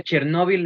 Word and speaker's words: Chernóbil: es Voces de Chernóbil, porque se pronuncia Chernóbil en español, y se escribe con acento en la O y con I latina en español, ¿no?